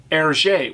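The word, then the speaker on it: Hergé: in Belgium R gave himself the p name ERJ which was the French pronunciation of his initials reversed from gr to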